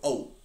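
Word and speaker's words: owt: And you don't even need to pronounce the T. You can go oat and have a suspensive pause at the end.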